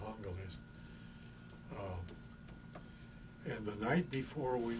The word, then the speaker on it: Angeles: the foothills to the municipality of Angeles, Angels, or they pronounce it Angeles.